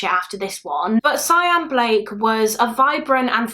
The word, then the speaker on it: Sian: I believe some people would call her Shan, whereas her family would pronounce her name like Cyan.